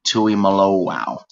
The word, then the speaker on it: Tuimoloau: So to Chris's question, yes, number 44 is JT, and as it's technically pronounced, it's JT Tuimoloau.